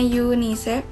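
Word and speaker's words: UNICEF: C ya bagian C ada akronim dan singkatan bahasa asing yang tetap dilafalkan sesuai lafal aslinya contohnya di Yuni CV yang dibacanya yunisef ada Yun Isco dan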